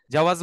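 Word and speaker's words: جواز: করতে যাবেন বা এই অর্থ এই শব্দটা শুনেছেন জাওয়াজ আস সাফার জাওয়াজ সাফার মানে হচ্ছে পাসপোর্ট হ্যাঁ জাওয়াজ আস সাফার উচ্চারণটা খেয়াল করেন এখানে কিন্তু আগে জিম পরে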